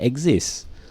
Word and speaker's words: exist: Listen to my pronunciation. No, it's not exist tau. Orang Melayu they exist. But it's actually exist.